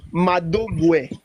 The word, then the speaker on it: Mogu: The the real pronunciation is actually Mogu.